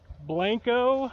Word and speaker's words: Blanco: four corners area between Blanco is how they say it around here it's really Blanco but they say blanco and Aztec and so